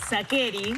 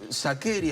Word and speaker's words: Sacheri: Me diste la bienvenida, Sacheri, así me llamaba yo antes de ser escritor. Pasa que, como todo el mundo en Argentina lo dice Sacheri, ya está. Es antipático decir, no, perdón, se dice Sacheri.